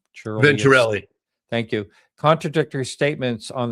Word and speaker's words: Venturelli: I can't pronounce the name. Churlius. Venturelli.